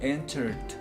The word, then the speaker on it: entered: Este se pronuncia entered. Entered. Lo remarco, no se dice así tan enfático. Entered. No. Entered. Entered. Es una D. ¿ok? Esta última E, bueno, las dos Es de hecho, creo que las tres Es no se pronuncian. Ajá. Entered. No vamos a pronunciar ninguna E.